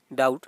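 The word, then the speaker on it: doubt: जिस प्रकार बी का क्या है, डाउट से संबंधित है यानी कि डाउट, इसमें क्या है, बी साइलेंट होगा।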